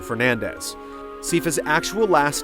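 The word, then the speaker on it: Belnades: was isabel nades however according to the japanese versions of the game as well as castlevania 64 the name is pronounced closer to fernandez sifa's actual last name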